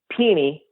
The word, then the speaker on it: Penny: Well, in Memphis, it's pronounced Peeny, but yeah.